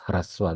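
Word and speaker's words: ह्रस्व: Hrisva or hrasva, I mean, how do you, hrisva is how I pronounce. Okay, but it's hrasva the way it is written.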